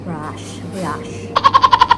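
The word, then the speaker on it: brioche: and briach briche kasi brio brioch siya spelling niya pero ang pronunciation daw niya ay brush brush not break but brush something ganon gutom na basta gumana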